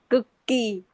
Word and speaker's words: Cực kỳ: How do you pronounce this? Cực kỳ. Cookie. Okay, cookie.